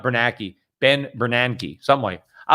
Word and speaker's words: Bernanke: or anything like i did run into ben bernanke you know at the green room of i